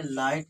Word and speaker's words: light: अब यहाँ पे देखिए GHT आया है, और इसमें जो GH आया है ये साइलेंट है। ठीक। तो ये क्या लिख जाए? लाइट लिख जाएगा, है ना।